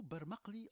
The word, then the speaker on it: barmakli: Et nous trouvons le même mot exactement avec la même prononciation en langue turque. Il sera de fait prononcé parmakli et ce terme désigne un doigt.